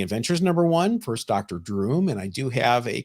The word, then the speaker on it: Droom: doom and went to went right to droom okay rhymes with broom uh drum broom groom